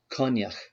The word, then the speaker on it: Coinneach: name was kenhor now hamish mcdonald on his youtube channel where he talks about the bronze here you he pronounces the name kanyak and so he might be closer than that in fact maybe i'm just going to go with kanyak it's what we anglicize